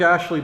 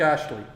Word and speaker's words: Astley: Big Yellow Rebel, I was telling a story how we saw Rick Astley by accident one night at 1018, which was Roxy.